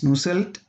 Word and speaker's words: Nusselt: Bolter, Ernst Mach, Wilhelm Nusselt. In German it is pronounced as Nusselt.